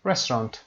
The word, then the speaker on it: restaurant: restaurant.